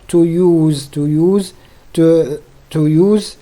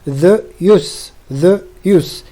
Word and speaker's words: use: يجب أن تنتبهوا جيدا لهذا الاسم، لأن هناك فرق في النطق بين الاسم والفعل. حينما نريد أن نتكلم عن الفعل نقول to use أو الادجكتيف الصفة useless، ولكن الاسم the use.